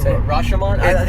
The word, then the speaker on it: Rashomon: are the three movies reduce freshman on I think is how you say Oh Rashomon yeah is that the one